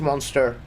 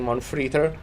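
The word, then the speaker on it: Mon3tr: saving for uh yeah I know it's pronounced monster. I do it a lot of the time, but also a lot of the time I say on free just because it's fun.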